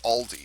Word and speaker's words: Auldey: It's not Audley, it's Aldi. At least I think that's how it's pronounced.